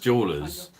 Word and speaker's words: Dualers: It's pronounced jewelers, but it's like dollars, Dualers.